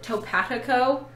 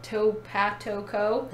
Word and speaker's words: TopatoCo: how to pronounce it, Topatico. So it's like potato, but Topatoco.